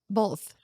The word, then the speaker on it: both: like, both. Who doesn't say both? He's like, it's both. There's no L in both.